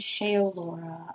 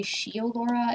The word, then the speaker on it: Shaeolaura: As someone named Shaolora. I am very used to people pronouncing my name wrong. The amount of people who say she Laura is a little alarming honestly.